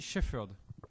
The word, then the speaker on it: Shepherd: Il n'y a pas de F. Shepherd. C'est Shepherd. PH.